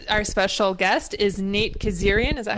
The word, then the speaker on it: Kazarian: And then also with us, our special guest is Nate Kazarian. Is that how you say it? Yeah, Kazarian. I don't even pronounce it right.